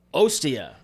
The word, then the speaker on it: Ostia: And this was the first Moncala game that I had ever played, but Ostia. Yes. I think that's how it's pronounced.